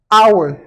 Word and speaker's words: our: Donc, lorsque vous parlez l'anglais, assurez-vous de prononcer les H. Toutefois, il y a quelques exceptions à connaître. La première, c'est our.